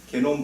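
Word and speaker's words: genome: 그래서 유전체라고 하고 우리나라에서는 그걸 독일어식 발음으로 계속 하기 때문에 게놈이라는 말을 하죠. 그래서 게놈 분석의 경제학인데 이게 개인이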